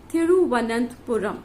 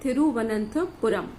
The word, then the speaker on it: Thiruvananthapuram: It is Thiruvananthapuram. It has got a long spelling, and you pronounce it as Thiru, T-H-I-R-U, Thiruvananth, V-A-N-A-N-T-H-A, Vananthapuram, P-U-R-A-M. So it is like Thiruvananthapuram.